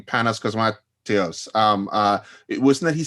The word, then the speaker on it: Cosmatos: I feel like isn't that something that Panos Cosmat, I'm mispronouncing his last name, Panos Cosmatos, it wasn't that he said something like Beyond